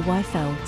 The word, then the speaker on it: Yfel: So that's how I developed the Yfel, spelled with a Y. So, it's upside down Eiffel.